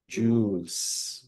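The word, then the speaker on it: joules: Ang tamang pronunciation ay jees. O parang parang alahas ' ba? Jeweles. O ganon. So, okay. Ang isang horsepower is about 750 joues.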